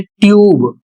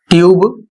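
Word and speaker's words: tube: इसके बाद है ट्यूब, इसको ट्यूब पढ़ेंगे।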